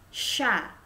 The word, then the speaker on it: chat: C dengan H menjadi syoh ya, syeh ya. Seperti syod dalam bahasa Arab. Sha ya.